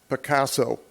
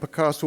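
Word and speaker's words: Pacaso: closed escrow to a billion dollar company called picasso i'll spell it p-a-c-a-s-o their intention is to convert the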